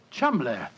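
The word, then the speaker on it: Cholmondeley: is in no way pronounced the way it is spelled. Oh, Joe, I never thought of that. Chum.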